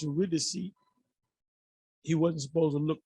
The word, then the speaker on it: Eurydice: get his wife you're with the seat is pronounced eurydice he wasn't supposed to look he was supposed